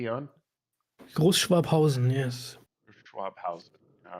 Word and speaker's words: Großschwabhausen: And Großschwabhausen. Did I pronounce that correctly, Jan? Großschwabhausen, yes.